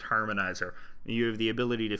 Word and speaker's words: Harmonixer: It's spelled harmonixer, but I think it's pronounced harmonizer.